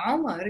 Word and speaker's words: Omar: pronounce his own name, but that's how it's said in English. So some proper nouns, yeah, even if they are Arabic in an English-speaking country, they become different. It becomes Umar in that case.